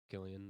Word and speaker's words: Cillian: And is that guy's name Cillian Cillian Murphy. Murphy? Yeah. Is that how you say it? Killian.